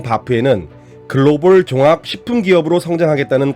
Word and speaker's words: HBAF: H는 묵음입니다로 유명한 브랜드명 바프에는 글로벌 종합 식품 기업으로 성장하겠다는 강한 의지가 담겨있다.